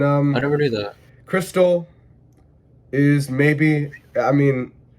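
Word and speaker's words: Xtal: crystal the opening song just pronounced crystal because it's like x and x-mas it's like christmas it's crystal i saw that youtube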